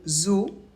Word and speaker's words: zoo: Attention, exception, le mot zoo s'écrit Z-O-O, mais on ne prononce pas OU.